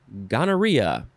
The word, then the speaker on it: gonorrhea: The synonym is gonorrhea. And I shall spell that for you.